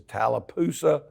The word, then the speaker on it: Tallapoosa: moved to Haralson County, which is Tallapoosa, I think's how it's pronounced.